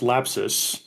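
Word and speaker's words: Lapsus$: Cowboy, Yeah, so for the record, it is just pronounced lapsus.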